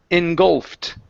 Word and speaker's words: engulfed: word engulfed okay so it's an ed ending instead of engulfed okay the Ed D is a t sound engulfed engulfed okay very nice